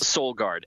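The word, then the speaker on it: Solgaard: And can you spell it for us? Soulg Guard.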